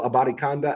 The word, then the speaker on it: Abanikanda: Abanikanda, I learned how to say his name, Israel Abanikanda out of Pitt.